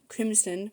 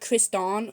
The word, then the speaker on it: Crimson: Um, that's Crimson Crimson. My bad. Crimson, not Criston or whatever I said there.